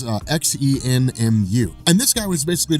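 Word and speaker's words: Xemnu: stories involving a guy named zenu I think is how you pronounce it it's xen muu and this guy was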